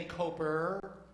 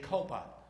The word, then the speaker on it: Copa: said ho it P I don't say coper I say Copa now say it right or